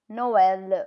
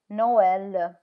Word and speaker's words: Noël: It shows that the vowel on which it is placed, the two dots is placed, is pronounced separately from the vowel before it.